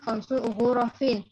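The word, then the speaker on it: خمس غرف: Intinya dulu untuk kata khamsu ghurafin dibacanya khamsu ghurafin. Kata ghurafin kasrah ya, kasratain.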